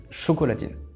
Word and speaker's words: chocolatine: autrichien la lettre D prononcée t la première prononciation retenue a donc été chocolatine à côté de ça si c'était présenté quand